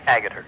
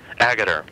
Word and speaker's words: Agutter: The treatment of women in the film, that being Ginny Agutter, is that the proper pronunciation of her last name, Agutter? Agutter. Agutter.